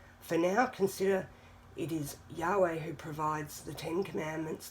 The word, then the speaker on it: Yahweh: Below is the math for the numerical value of YHWH, pronounced Yahweh, and written in Hebrew as that.